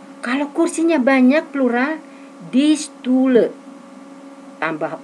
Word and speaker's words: Stühle: A titik 2 dibaca E. O titik 2 dibaca E. U titik 2 dibaca U.